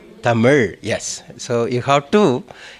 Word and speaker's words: தமிழ்: Say Tamil. Tamil, yes. So you have to, pronounce Tamil. And it is spiritually connected. It touches the palate on the top.